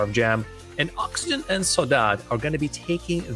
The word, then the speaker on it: Sodad: They say, in French, they say it Sodad, just like so dad. And as you can see, it's actually very close to pronunciation in Portuguese as well, where the word actually comes from.